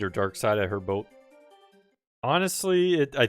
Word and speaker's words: Darkseid: Darkseid or Darkseid, I heard both. Honestly, I think it doesn't matter. They use Darkseid in the movies, but I would think you would pronounce it Seed, because they have a